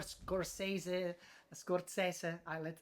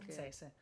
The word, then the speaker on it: Scorsese: you know this or Scorsese. I use the Italian pronunciation. good, Martin that's good. Scorsese.